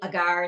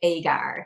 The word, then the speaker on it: agar: using something called AAR now some folks prounce it agar some folks pronounce it AAR Linda and I finally went back and forth and we settled on the pronunciation of AAR so what is it